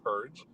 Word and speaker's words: PURG: for responsible government incorporated those initials spell out p-u-r-g we pronounce it purge one of the things